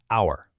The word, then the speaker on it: hour: The word hour starts with a consonant H, right? But the H is silent.